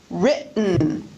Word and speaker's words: written: need to mention that very often the T before syllabic N is pronounced as a glottal stop. Listen to the difference between bidden, bitten, ridden, written, sadden, satin, sudden, sutton, burden, burton, Eden, eaten. The second example is pronounced with a glottal stop.